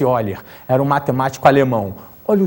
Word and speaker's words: Euler: a mediana de eiler escreve-se Euler mas pronuncia-se eiler era um matemático alemão